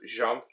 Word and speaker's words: Jean: was reading it and I kept reading it as Gene because it spelled the same way rather than the French Jean um so I was